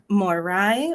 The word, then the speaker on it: Moirai: have asked for it is it morai or Mori I looked up several different ways to pronounce it more I mean yeah we tend to go with Moira myths perfect okay so Moranis